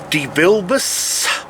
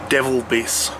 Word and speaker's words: DeVilbiss: quick unboxing of a DeVilbiss SLG G620. And if you want to piss people off, just call it a Devilbiss. Supposedly called DeVil- DeVil- God, no, I can't even pronounce it.